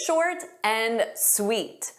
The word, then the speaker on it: short and sweet: Notice that pronunciation. We take that and but we just pronounce as shorten. Short and sweet. Short and sweet. So, you pronounce it like one word.